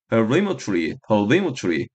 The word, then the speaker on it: pelvimetry: 그래서 골반 측정, pelvimetry. 이 강세가 앞에 있으니까 매추리가 머추리가 되었네요.